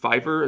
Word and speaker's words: Fiverr: I I found this artist like with incredible reviews on I I believe Fiverr is I think I think that's how you say it.